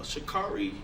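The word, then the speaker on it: Sha'Carri: Uh, Shakari Richardson, that's how you say her name.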